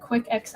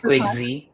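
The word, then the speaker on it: QuickXI: He has launched innovative products such as Invo Chat, Invocom, Invo Desk, Invo ERP, and how do I pronounce that? Quick XI? I'm going to ask It's Quick Z.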